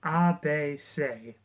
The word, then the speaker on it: ABC: support group, I guess, known as the people of Abe say, which even though it's typed ABC in the book, that's how it says it's supposed to be pronounced.